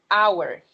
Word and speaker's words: hour: So, look at the first word, hour. Hour. So hour starts with a consonant, right? H. But here, H is silent, right?